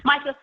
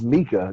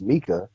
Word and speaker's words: Mika: Micah, thank you very much for having me. It's it is Mika. You just have a problem pronouncing people's names. It's Mika, not Micah. It's Mika.